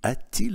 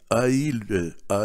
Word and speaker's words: a-t-il: Не a-il un ami. A-t-il un ami?